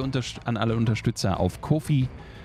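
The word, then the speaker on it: Ko-fi: an alle Unterstützer auf Kofi bzw coffee wird sie ausgesprochen Profi wie auch immer man es aussprechen möchte danke schön dafür und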